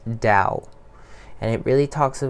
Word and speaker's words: Tao: tea eh oh alright but it's pronounced Dao and it really talks